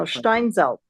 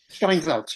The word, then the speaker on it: Steinsaltz: Could you just say a word about how the Stein Schneider, I think I'm pronouncing it wrong, edition fits into all of this? Steinmetz. No, Steinsaltz. Steinsaltz, yes, Steinsaltz.